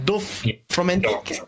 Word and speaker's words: Dorfromantik: Is that how pronounced again? Dorfromantik? Yep. Dorfromantik. Yeah, Dorfromantik.